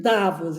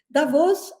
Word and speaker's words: Davos: Eu prefiro Davos, eu acho que é a pronúncia, que seria a pronúncia em português de Davos. Davos é como se fala em alemão, então é a mesma